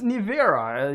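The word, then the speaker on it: Nevera: you better hurry up this one is rematch nivera yes that's how you pronounce it 2.4 million dollars also 300 miles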